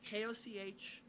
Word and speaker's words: Koch: to the New Yorker, K-O-C-H, pronounced, not pronounced cock, as it probably should be, but Koch.